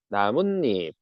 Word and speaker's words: 나뭇잎: 지물 자 니은 소리가 덧난다는 나뭇잎 나뭇잎은 문잎에서 니은 니은 소리가 덧난다라고 요걸 보여주고 있다.